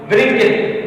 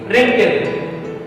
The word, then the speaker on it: wrinkle: The starting word is W. We cannot call it wrinkle. It's wrinkle.